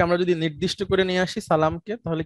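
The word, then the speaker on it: السلام: যদি নির্দিষ্ট করে নিয়ে আসি সালামকে, তাহলে কি বলবো, উচ্চারণটা কি হবে? আল সালামু। না, আল হয় না, আসসালামু হয়ে যায় তখন। হ্যাঁ, আসসালাম, তখন আর লামটা উচ্চারণ হয় না।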